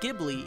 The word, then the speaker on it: Ghibli: 12 the original word gibli is pronounced with a hard G instead of a soft G used by the studio supposedly this was miyazaki's